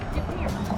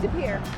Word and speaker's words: De Pere: We're still in De Pere. Excuse me. Can you please pronounce the name of this town for me? De Pere. De Pere.